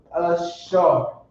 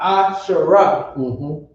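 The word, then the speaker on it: אשר: You're going to drop the a at the end of the ra, and it's going to become ashar, not ashara.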